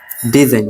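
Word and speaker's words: design: ও আর ই এন ফরেন ঠিক আছে জি উচ্চারণ হবে না ফরেন মিন্স বিদেশী ঠিক আছে সাইন ফরেন এরপর আছে যে ডিজাইন ডি ই এস আই জি এন ডিজাইন ডি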